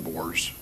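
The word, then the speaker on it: Bohrs: which is Detective Ben Bors. Ben Bors B. Yeah, don't quote me on how to say it, but I I think it's B O H RS Bors is his last name.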